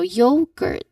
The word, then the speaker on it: yogurt: We want the yo sound. Like when you gra uh like when you um like when you try to greet someone like yo then you add g. So, yogurt.